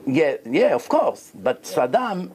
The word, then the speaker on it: Saddam: yeah of course but Sadam Sadam the Iraqi like ra satka his name is sadka that's how they pronounce it so what happened so